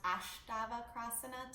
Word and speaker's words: Astavakrasana: Astavakrasana. Actually, it can be pronounced Astavakrasana too.